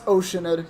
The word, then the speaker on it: Oceanid: oate who flowed here from that's how they pronounce it oenid no that's oceanid you can't make me oid W the grandm